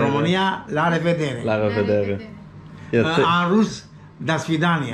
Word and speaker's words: La revedere: La revedere. La revedere. La revedere. La revedere. In Italian, la revederci. Oh, la revederci. Italia. La revedere. Romania, la revedere. La revedere. La revedere.